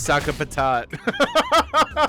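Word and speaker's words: Sakapatate: 33 videos being like, "It's Saka Patat." They're so upset about it. Like, you're not pronouncing it right. I'm like, "Fair enough. Fair enough, brother. Saka patat. Yeah, pretty funny. Saka patate.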